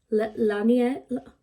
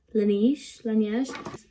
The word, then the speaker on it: Laneige: because this is meant to be like the Lanier, oh no, how do you say that brand? Laneige.